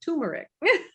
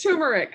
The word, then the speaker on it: turmeric: time but it's terrific you do pronounce the r right amy okay i'm saying it wrong because i always say it turmeric yes what do i it's not it's turmeric okay okay so so